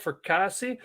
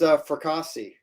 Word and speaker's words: Fracassi: We are live with Philip Fracassi. Am I pronouncing that right, Philip? It's fracassi, Fracassi. Okay. like a lasagna.